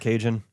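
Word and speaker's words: cajón: Oh yeah, cajon. Oh. And we would sing some songs. Texas would pronounce it Cajun.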